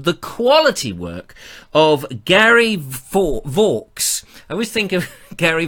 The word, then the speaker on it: Vaux: And he said, it's Vaux, rhymes with forks. And Gary, I have never forgotten that. So I will never get your name wrong. So there we are, Gary Vaux. Vaux.